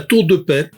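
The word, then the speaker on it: La Tour-de-Peilz: Il s'appelle la tour de paix. Ça s'écrit P L Z mais je vous pas je vous assure ça se prononce paix.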